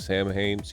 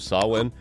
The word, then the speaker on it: Samhain: If you saw us deal with the season of Samhain, wow, I said it wrong. The season of Samhain, we got to do a bunch of the games from Yames.